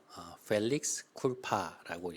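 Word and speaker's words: felix culpa: 혹시이 단어를 아시는지요 아 이것은 이제 라틴어인 펠릭스 쿨파라고 읽습니다 번역해 보면 오 복된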